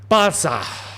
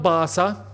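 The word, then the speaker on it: Barça: down below much appreciated Bara well no no not Barca we're going to pronounce it like the Catan say Bara Bara yeah Barcelona what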